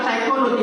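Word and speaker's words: psychology: अब देखिए, आप साइकोलॉजी बोलते हैं, मनोविज्ञान। साइकोलॉजी कहाँ, ये शुरुआत में अटपटा से एक शब्द लगा देते हैं, वो है पी। इसको कुछ नहीं बोलना है, वहाँ पता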